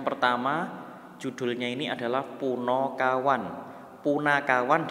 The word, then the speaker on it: Punakawan: Punakawan dibaca Puno. Ingat ya, A dibaca O, Punakawan. Tapi yang ini jangan dibaca kowon, tetap kawan ya.